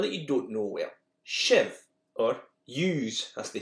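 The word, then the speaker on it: sibh: Shiv, or use, as they say in Scots.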